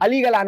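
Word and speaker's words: Ali Galán: pronounce his name Ali Galan or Ali Galan Ali Galan okay that's how you pronounce it bro that guy came out and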